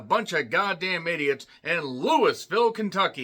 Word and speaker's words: Louisville: of goddamn idiots in Louisville, Kentucky. Yes, I know it's pronounced Louisville.